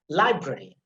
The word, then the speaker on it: library: Then again, when you have ARY, you have to put emphasis on the first syllable, like primary, diary, library.